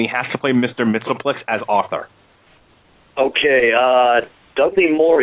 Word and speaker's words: Mxyzptlk: God, I never pronounced his name right. Mr. Mxyzptlk. Mxyzptlk.